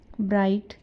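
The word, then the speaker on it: bright: ब्राइट site. यहां पर क्या है? जी एच क्या हो गया? साइलेंट है।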